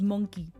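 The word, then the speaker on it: moncaí: The Irish word for monkey is monkey. And it's so cute. It's spelled M-O-N-C-A-I. And the I has a fada on it. I think it's called fada. The accent.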